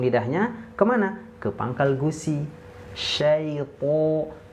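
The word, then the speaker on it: الشيطان: Syaiton po ti pu. Itu tebal ya. Jangan lupa di sini huruf to-nya tebal. Oke, coba lagi.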